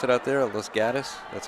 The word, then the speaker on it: Los Gatos: As they pronounce it out there, Los Gatos. That's how he pronounces it, Los Gatos.